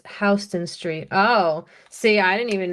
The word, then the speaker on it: Houston Street: People who like to visit the city pronounce Houston Street like the town, but it's Hston Street.